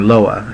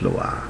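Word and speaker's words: Loa: the orishas in voodoo it's low ha hmm which I was pronouncing lowa and they were like no Robert its Lola like thank you see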